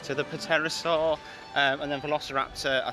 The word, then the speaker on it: Pterosaur: this right to the Pterosaur um and then velociraptor i think is oh it's there it's there it's right in front of us - I think it's a silent p i know i was